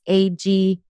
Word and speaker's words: Aguirre: It's not spelled with a Y. then my last name is Aguirre. So it's Aguirre.